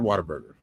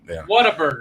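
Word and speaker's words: Whataburger: ] amazing I've had water burer and it is good water bur isn't it Water Burger water b i pronounce it wrong whatever dude what a burger it's what a burger [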